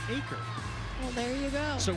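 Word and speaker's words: Eaker: She says the whole Gymternet thought that Eker was pronounced Eker until we found out it's actually pronounced Acre.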